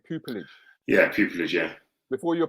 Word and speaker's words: pupillage: Did I pronounce that correctly? Pupillage?